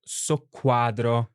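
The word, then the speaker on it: soqquadro: doubled basically even the the letter Q wow what a word with double Q so the only one we have in Italian it's the word so Quadro and which means dis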